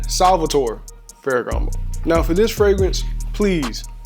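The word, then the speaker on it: Salvatore Ferragamo: much it costs what that's not how you say it excuse me it's actually Salvatore fairo now for this fragrance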